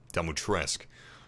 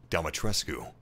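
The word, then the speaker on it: Dimitrescu: welcome to castle demotresque apparently even though ethan pronounces it uh dumbotresque the romanian pronunciation would be domitrescu check this out i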